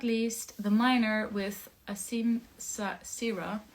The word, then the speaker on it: Asim: least the miner with Asim Sierra I have to pronounce it as awesome awesome uh nilo I will